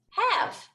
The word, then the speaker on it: have: also going to circle the letter e because it does not state any sound in this word so when you read the word have you have to remember to pronounce it as have but when you write